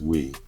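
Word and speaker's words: Weee: Is we.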